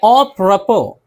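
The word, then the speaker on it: apropos: आगे है ऑप्रपो, ऑप्रपो बरमहल मौजू। और कंसो, और कंसो अमरीकी सूबा है ये। इलिनोय, इलिनोय ये भी अमरीकी सूबा है। इन सब में देखिए एस है, एस है लेकिन एस नहीं पढ़ते हैं।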